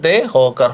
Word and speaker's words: দেহ: Same দেখেন দেহ, খেয়াল করেন দেহ, এই ধ্বনির পরে একটা অ আছে না, এই জন্য আমরা কি করব, উচ্চারণটা ও দিয়ে দিব, দয়কার দে, হকার হ, দেহ।